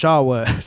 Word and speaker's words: Charlotte: daughter I first met Charlotte when you were still basically just a vegetable in that coma it's pronounced Shawa this is my flesh